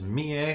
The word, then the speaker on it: Mie: And his wife is Mie, which is spelled M-I-E. like Mia with an E.